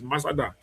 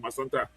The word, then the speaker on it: Masada: Yeah, so Masada, actually the right word for that place is Masada. So the guy trying to pronounce it either the French or Maningo way call it Masanta. But the actual Loma will say Masada. That's not French word, Maningo, that Loma. The word is Masada.